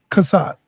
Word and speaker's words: Chaasad: um what my man Chess how you pronounce his name? Casad Casad.